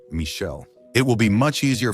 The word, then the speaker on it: Michel: Yes, I'm attempting the Italian accent, but we'll use the French pronunciation, Michel.